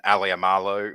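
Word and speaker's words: Alaimalo: I was curious to see what Solomon Aliamalo was going to score, by the way. Apparently that's the pronunciation, as I heard on the Behind the Roar episode last week from Chris Warren.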